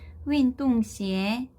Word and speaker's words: 运动鞋: 앞에 있는 윈이라고 하는 단어가 여기도 유로 적혀져 있긴 하지만 이 친구가 원래 유땡땡 발음이죠. 그래서 윈으로 발음되는 거에 주의를 해주시고요. 운동화 다시 한번 발음을 해보면 윈동시에 윈동시에 자, 그래서 운동화를